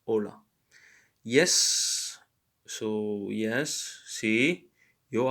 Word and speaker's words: hola: not hombre but ombre just like in hola it's not holla but it's hola yes so yes si